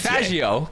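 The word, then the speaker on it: Faggio: Every single man should have at least one Fagio in his garage if you're playing GTA. Fagio. Come on, please get it right. It's an Italian pronunciation.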